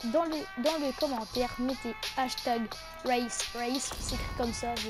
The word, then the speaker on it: Wraith: Likez à masse, Les gars, dans les commentaires, mettez hashtag race, c'est écrit comme ça, je vais vous mettre.